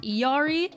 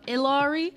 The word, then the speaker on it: Illari: the stream the new character's name is actually pronounced Yari instead of ilari but I didn't know that until the very